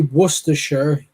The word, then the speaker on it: Worcestershire: When we say Worcestershire, they'll say Worcestershire.